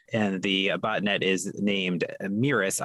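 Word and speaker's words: Mēris: And the botnet is named Meris. I'm pronouncing it that way because the way that it's written actually has like the long E symbol on it. So I'm assuming that's how it's pronounced.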